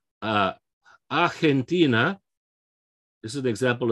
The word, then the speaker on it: Argentina: this is an example of that g because it's before an e being a soft sounding like an h it's not in english we have argentina j like a j sound right uh in spanish okay we've got an h sound canada okay what's another